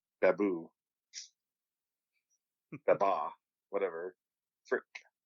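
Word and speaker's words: Frik: Frick. Like frack, but frick.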